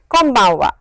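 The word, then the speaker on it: こんばんは: clearly, but please remember this n over here is of course n, but the way it is pronounced is, press your lips like this, close your lips, and it is an m sound.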